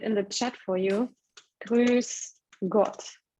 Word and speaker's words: Grüß Gott: So it's the umlaut, yeah, Ü. Grüß Gott. S. And yeah, it's called sharp S. Like so I don't. Yeah, so I don't say Grüß Gott. I say Grüß Gott. So it's like double S.